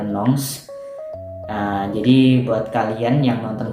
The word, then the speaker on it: Nantes: Gue tinggalnya di kota Nantes, ya tulisannya kayak gitu tuh, Nantes bacanya Nantes.